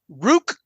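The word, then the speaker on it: Ruke: uh let's see here he has Rook rhymes with Juke I think I can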